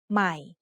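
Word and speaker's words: ใหม่: when reading this word notice that there is an initial consonant cluster formed by a silent letter followed by m this means the word will start with the initial sound M of M but that letter will be treated like a high class consonant because of the silent or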